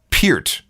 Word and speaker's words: Peart: of Neil's last name it is in fact Pier not per like the shampoo for proof I refer